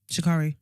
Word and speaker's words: Sha'Carri: Do you know how you pronounce her name? Sha'Carri. Sha'Carri.